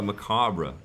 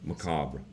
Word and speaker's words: macabre: It's kind of macabre in a way, isn't it? Is that a word? There, first time I've used that word. The R is silent. Macabre. Macabre. Macabre.